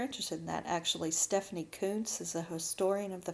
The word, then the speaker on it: Coontz: If you're interested in that, actually, Stephanie Kuntz is a historian of the family. Her last name is spelled Coontz.